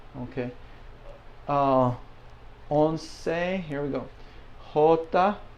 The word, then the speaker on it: jota: Jota, I'll put a hole and then ta here.